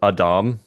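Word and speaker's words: Adams: Have you Have you ever heard the puddle analogy from Douglas Adam? No, I haven't. It's pronounced Adam.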